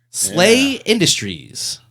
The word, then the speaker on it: SLA Industries: to steal slay Industries SLA Industries pronounced slle slay Industries you know H I don't know the hero system guys made Champions her no that is incorrect slay Industries produced by uh I see slay Industries pronounced slay SLA is a role playing game